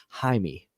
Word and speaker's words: Jaime: it ain says yes the j is silent in spanish names jaime god kong snake says